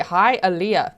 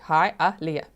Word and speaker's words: Hialeah: Hialeah. Thank you so much. Look there. Hialeah.